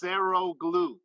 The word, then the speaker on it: Saroglu: It's pronounced Saroglu.